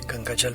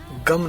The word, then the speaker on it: गं: उच्चारण से मतलब है गंग बोलना है गम नहीं बोलना जो लोग गम गणपति